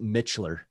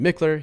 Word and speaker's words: Mickler: Sometimes pronounced Mitchler. Never pronounced that way. I mean, it is pronounced that way, but it's wrong. All right. So at Mickler, here it is.